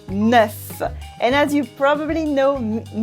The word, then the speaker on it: neuf: what's funny is that the pronunciation of neuf sometimes changes, a bit like la liaison. For example, we'd never ever say 9 heures, we say 9 heures. So the F makes a V instead of an F sound.